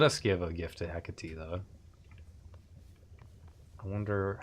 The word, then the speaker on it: Hecate: Hecate. That's how they pronounce it here.